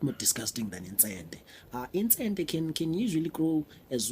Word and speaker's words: Intsente: Pronouncing Intsente is very easy. Intsente. Again. Intsente.